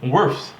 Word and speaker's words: Wirfs: Worfs. Like Smurfs, Worfs.